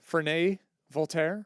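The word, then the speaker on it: Ferney-Voltaire: Ferney, Ferney Voltaire.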